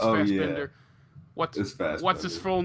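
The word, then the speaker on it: Fassbinder: I thought it was fast binder I think it's fast Bender what's what's his full name again I'm forgetting it in the moment it's same here Fender no no no a German fast Bender fast binder isn't it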